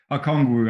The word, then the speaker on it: Okongwu: How do you pronounce the last name? Okongwu.